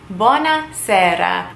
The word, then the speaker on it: buona sera: I said good evening buona sera again it is one word but it is sort of two words put into one buona sera buona is good Sara is evening buona sera Italians don't really say